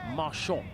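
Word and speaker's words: Marchant: near pace merch or I think Marshon is how he likes to pronounce it.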